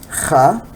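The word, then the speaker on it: خ: With the short vowel, what we call harakat, fatha, dhamma, kasra, we say kha, khu, khi.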